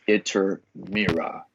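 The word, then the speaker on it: Iturmera: Ishkur was later pronounced Iter-Mira.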